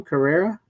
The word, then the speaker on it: Carrera: Carrera. Yes. Yeah, Carrera, which was hot.